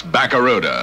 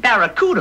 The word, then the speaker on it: Barracuda: I can't pronounce Barracuda. Yeah, well, look, man, try this. Say ba. Ba. Ra. Ra. Coo. Coo. Da. Da. Now put it all together! Baba, ra-ra, cuckoo, da-da! Well, it ain't Barracuda, man.